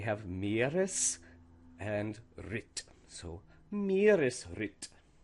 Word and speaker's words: Meeresritt: So things to remember are to pronounce each part as if it's by itself, and then also that the internal stress still applies, and that the first word is usually stressed.